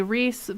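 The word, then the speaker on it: Ryis: And this is the way that I pronounce his name. I don't know if it's the correct way, but I pronounce his name as Rias, because it has the I in there. People say Reese, but the way that I've seen it spelled, it does not include the I.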